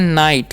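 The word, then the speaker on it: night: देखिए नेक्स्ट क्या है एन आईजीएसटी पढ़ते हैं नाइट क्या पढ़ते हैं नाइट ठीक है सभी में आई का उच्चारण भी कर सकते हैं आई का उच्चारण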